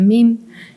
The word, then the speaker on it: meme: dice que el meme, que se pronuncia meme, y que se parece mucho a gene, que es gen en inglés, ¿no?